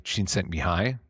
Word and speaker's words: Csikszentmihalyi: So there was a Hungarian American psychologist, this guy Mihai Csikszentmihalyi, spent a while learning how to pronounce it properly.